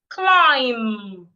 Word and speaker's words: climb: not C cold taste climb the B is silent now say after me